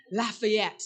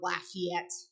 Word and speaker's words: Lafayette: And I have this bad habit of pronouncing all the St. Louis area French names like they're French. So Gravois, not Gravois, right? Lafayette, not Lafayette.